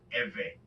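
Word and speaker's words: עברי: In English, you will spell this Ivri, and it's pronounced Eve.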